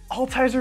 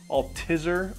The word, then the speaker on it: Altizer: love my family but all tiser is a hard word to say it's a German word it's hard to spell usually when people say my name for the first time they say I'll teaser a litter I'll teaser it sounds like the disease Alzheimer's it's just a constant